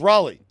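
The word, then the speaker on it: Rollie: fingers wait a minute Raleigh that's not spell that listen how's it spelled Ry but it's Raleigh Raleigh fingers canotes LIF I mean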